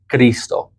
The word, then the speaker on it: Cristo: That is and what I found, that is the only time that you pronounce CH like a hard K, Cristo.